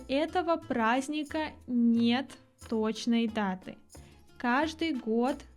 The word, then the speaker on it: праздник: масленице Масленица - это праздник праздник мы не произносим д в этом слове существительное праздник глагол праздновать